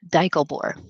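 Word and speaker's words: Deichelbohrer: took german probably can d-e-i-c-h-e-l-b-o-h-r-e-r that is my mother's maiden name it's also the road i grew up on and that's here's how you pronounce it daiglebore so whenever like credit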